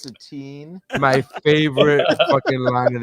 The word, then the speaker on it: Satine: Thank you, Satan. Actually, it's pronounced Satine.